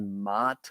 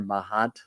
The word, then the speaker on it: Maat: the energy of the Egyptian god mat or mahat or Maat depending on how you want to pronounce that because one of the